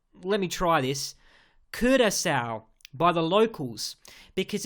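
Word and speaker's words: Curaçao: I noticed right away that being the title Keira cow which is actually pronounced let me try this Kurtis out by the locals because it's named after a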